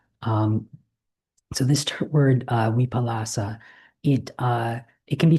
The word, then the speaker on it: vipallāsa: In poly there's no w but a v sound. So um just from coming in Thailand from Thailand I I use a lot of more of the Thai pronunciations of it. So so my v's come out as w's. So um so uh so the the vipalas or the weipalas.